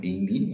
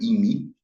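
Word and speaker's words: εἰμί: Não é imi, a pronúncia histórica é imi.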